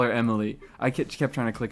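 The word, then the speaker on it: Emilie: I still call her Emily. I kept trying to click her and I just kept missing when like the the the stress should be Emmy Lee, but I don't I'm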